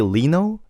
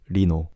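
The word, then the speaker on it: Lee Know: So you could say Lino, but you could also say Rino.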